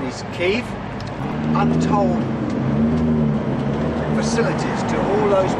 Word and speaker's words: Kiev: going to, and I know that the proper pronunciation is Kiev, untold facilities to all those people that need transport, and otherwise they simply wouldn't get it.